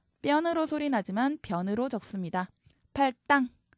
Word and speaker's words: 팔당: 팔당. 땅으로 소리 나지만 당으로 적습니다. 그 다음 발음상 혼동의 우려가 있을 때는 음절 사이에 붙임표 쓸 수 있습니다.